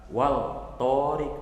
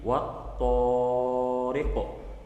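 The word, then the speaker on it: والطارق: Enggak wal tariq tapi wat-tariqu.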